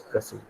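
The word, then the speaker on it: précis: original word of english we have taken this from french and that is how the uh the pronunciation it comes that's why we call it as pressly because that is the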